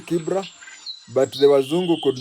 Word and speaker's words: Kibra: And you know the original Kibra, where it started, it's called Kibra, but the Wazungu could not pronounce it, so they called it Kibera, and we Kenyans call it Kibira, but the name is Kibra.